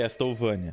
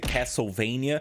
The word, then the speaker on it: Castlevania: essa franquia é que esta ovânia e sim eu sei que não é assim que se pronuncia Eu sei que era para ser Castlevania aparece o jeito que os